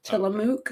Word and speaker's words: Tillamook: Tillamook, is that how you pronounce it?